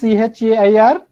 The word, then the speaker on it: chair: in this vertical transcription there is no r you have to pronounce chair you have to pronounce as chair chair chair no r you should